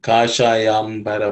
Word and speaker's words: kashayambara: The sha is cerebral sha. Kashayam bara kasha.